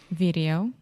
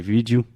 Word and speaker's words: video: Portuguese pronunciation and say vídeo. But in English, we say video. Video. So first we have a hard D sound, vid, and then we really exaggerate the O at the end.